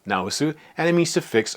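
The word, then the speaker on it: 直す: This is also pronounced naosu, and it means to fix or correct.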